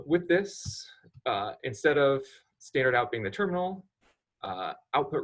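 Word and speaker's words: stdout: location called standard out this is how you write standard out but that is pronounced standard out and then the greater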